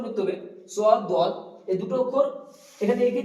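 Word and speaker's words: ضاد: তারপর আসছে সদ, সদটা উচ্চারণ করতে হবে সদ, দদ, এই দুটো অক্ষর এখানে এঁকে দিয়েছি দেখুন।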